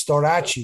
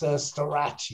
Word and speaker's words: Storace: In USA, it's Storace. I know. Storace. That's the right pronunciation.